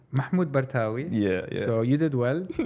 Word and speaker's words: Mahmoud Bartawi: Mahmud BWI right yes how was the the pronunciation of your name Mahmud BWI yeah so you did well good job thank